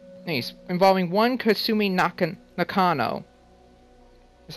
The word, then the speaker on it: Nakano: missing persons case he's involving one consuming knockin nakano is how you pronounce her last name anyway poor girl thinks